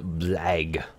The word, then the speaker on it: blague: Their word for joke is blague.